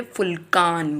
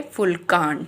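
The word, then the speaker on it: Vulkan: लेकिन इसकी प्रोनाउंसिएशन जो होती है वो फ होती है। फ तो यानी इसको कैसे पढ़ेंगे? फुलकान। कैसे पढ़ेंगे? फुलकान।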